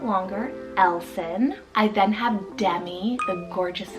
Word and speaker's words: Demi: I then have Demi, the gorgeous name Demi, D-E-M-I for the girl side.